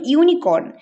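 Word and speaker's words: unicorn: vowel Yuta vowel কিন্তু যখন ইউনিকর্ন university form এটা যখন আমরা প্রোনাউন্স করবো উচ্চারণ করব তখন কিন্তু ভাওয়েলের সাউন্ড আসছে না কিসের সাউন্ড আসছে কনসোনেন্টের সাউন্ড আসছে ইউনিকর্ন ইউর প্রোনাউন্সিয়েশনটা কিভাবে আসছে ইউর যে প্রোনাউন্সিয়েশনটা রয়েছে এই যে ইউটা সেটা কি আসছে ওয়াই ও ইউনিকর্ন ইউনিকর্ন তো এই যে এটা প্রোনাউন্সিয়েশন আসছে কিসের কনসোনেন্ট সাউন্ডের ওয়াই টা কি কনসোনেন্ট তো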